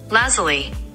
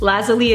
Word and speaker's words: Lazuli: How do you actually pronounce this? For crying out loud. Dear Google, how the f do you- Lazuli. Okay. Thank you, Google. Lazuli it is, but if I do say Lazuli,